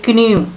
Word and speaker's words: knew: Okay, here don't say knew. Okay, K is silent, so you have to read it as knew.